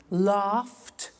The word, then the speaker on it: laughed: look at that watch danced eliminate the e pronounce the T danced laughed washed and walked okay now the temptation is